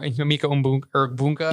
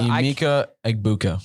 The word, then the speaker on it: Emeka Egbuka: Mbuka or Emeka Bunka. Emeka Egbuka.